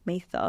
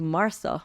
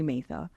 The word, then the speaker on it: Maitha: When I was in Australia, people did not know how to pronounce Maitha. Okay. I was actually called Martha one time.